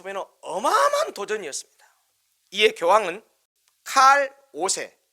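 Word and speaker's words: Karl: 이에 교황은 칼 5세, 독일어 발음은 카를 5세라고 하죠. 영어 발음으로는 칼이라고 하는데요.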